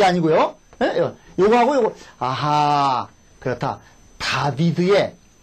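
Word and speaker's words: דוד: 요거하고 요거 아하 그렇다 다비드의 저 발음이 다비드 든요 다비드 그러셔야 돼요 다비드 다비드의 숲 말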